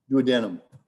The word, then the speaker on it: duodenum: Well, that's duodenum is how you pronounce it.